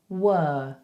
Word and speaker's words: were: So we don't say the R, okay? We go were. So I want you to drop that jaw like this.